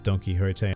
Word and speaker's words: Don Quixote: And yes, it is pronounced as Don Quixote. I know a lot of you like to giggle in the comments section because it sounds like donkey, but there it is.